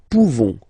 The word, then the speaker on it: pouvons: Nous pouvons, okay? You don't pronounce the final S.